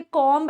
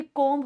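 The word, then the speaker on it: comb: ये कॉम्ब नहीं होता, ये कॉम्ब होता है.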